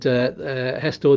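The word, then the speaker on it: gestor: for ages for a hestor spelt with an h but spanish g is is just pronounced like an h and hestor deals with your administrative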